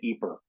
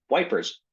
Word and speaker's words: Ypres: So the food and beer in Ypres.